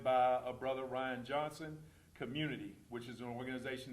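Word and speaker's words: Cxmmunity: what does that mean first of all it's pronounced Community the x is the only character that you'll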